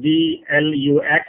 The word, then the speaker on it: DLUX: So it is spelled as D-L-U-X, but pronounced as it was D-E-L-U-X, DLUX.